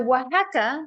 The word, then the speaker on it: Oaxaca: So Oaxaca was the pronunciation of this place, by the way.